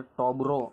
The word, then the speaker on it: Tobors: जो उच्चारण करो तो टॉबोर है ना, टॉबोर्स एम छे, પણ એને ખરેખર ટોબરો તરીકે છે એનું ઉચ્ચારણ કરવામાં આવે છે।